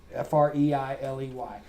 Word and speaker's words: Freiley: It's pronounced freely like the adverb, but it's not spelled that way. Freiley.